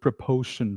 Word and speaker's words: proportion: But au does not come in the word proportion, right? Proportion. Au sound does not come in this word. It's only proportion.